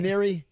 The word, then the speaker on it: Maneri: Can you pronounce the name of the coach that got let go? Is it It's Maneri, right? Maneri.